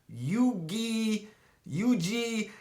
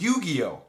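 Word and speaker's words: Yu-Gi-Oh!: getting ready to get called yugi yuji no one could pronounce it it was yu-gi-oh so i went to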